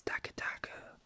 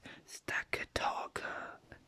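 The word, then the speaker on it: Stakataka: start with stack attacker now its official pronunciation is stackatako but i always pronounced it stackataka as in stack as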